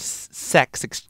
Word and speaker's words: CeX: a bunch of places called sex CeX damn it that's probably why they pron spelled it CeX cuz when people try to pronounce it it comes across that way but yes um The